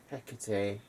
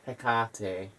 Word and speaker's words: Hekate: This is Hekate, or Hekate. There's a couple of pronunciations.